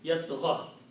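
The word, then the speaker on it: يطغى: Yat gha. Except that we are not pronouncing this last dhamma because it's a mismatch with the ya.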